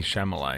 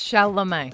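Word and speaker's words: Chalamet: in a Timothy shalom I said Timothy shamal so they said it vexed me greatly is that not right um I don't think you say it right you don't say right he's like he's one of the hottest actors in the world and you said Timothy shamay it's shalam sh shal sounds wrong are you sure name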